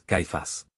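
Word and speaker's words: Cephas: el Cristo que Paz cuya pronunciación en arameo es caifas Jesús por lo tanto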